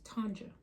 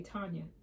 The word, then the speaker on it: Tanja: But my real name is Tanja. It's with a J. Um, I'm very particular about the pronunciation of my name because a lot of people say Tanya. That's not it.